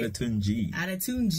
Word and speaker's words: Adetunji: Adetunji.